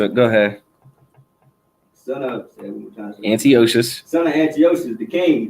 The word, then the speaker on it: Antiochus: Antiochus. No sweat. Antiochus.